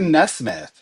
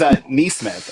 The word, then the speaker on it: Nesmith: She says Neesmith, and I'm like, it's Nesmith, and she's like, oh yeah, I got you.